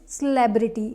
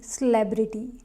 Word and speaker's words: celebrity: now next word is celebrity celebrity not celebrity again the confusion happens because of this word it is celebrate celebrate but this is not celebrity it's celebrity here the second syllable